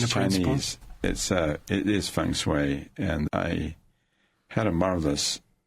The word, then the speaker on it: feng shui: It is feng shui, and I had a marvelous blessing.